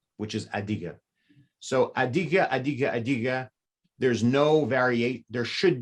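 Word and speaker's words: Adyghe: which is adiga so adige there's no variate there should be no variation that is the correct pronunciation of the g a now there is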